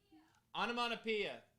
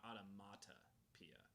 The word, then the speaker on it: onomatopoeia: Onomatopoeia. Onomatopoeia. Wow. Okay, so that looks crazy. For my entire life, I thought it was onomatopoeia, not automatopoeia. Onomatopoeia. I always thought it was an N instead of a T.